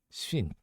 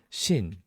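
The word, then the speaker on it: 쉰: then we've got 50 which is shin shin it's more like a uh shin but we don't hear the w shin so shin hana shin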